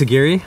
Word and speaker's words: Aguirre: my new friend, Tobias Aguirre. I'm the CEO at Fishwise. I just pointed out to Tobias that his last name rhymes with Nuguri, which is crazy because he works in creating sustainable fisheries globally.